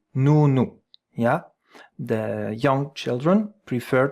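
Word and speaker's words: nous: It's you just spell it. N O U. N O U. Noo.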